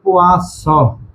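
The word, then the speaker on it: poisson: এটা উচ্চারণ হবে পোয়াস নাজাল, এটা উচ্চারণ হবে পোয়াজ, এই নাজাল।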